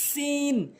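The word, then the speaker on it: سين: করবেন সিন ভুল উচ্চারণ সিন ভুল উচ্চারণ সঠিক উচ্চারণ হচ্ছে সিন সিন অর্থাৎ ঝার মতই নিয়ম জিহ্বার আগার সামনে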